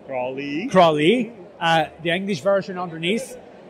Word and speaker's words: Croithlí: It's pronounced Croithlí. Croithlí.